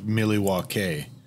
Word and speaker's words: Milwaukee: from milwaukee which is milwaukee wisconsin which uh uh i believe it's it's pronounced miliwa k it's algonquin for the good land right yeah okay just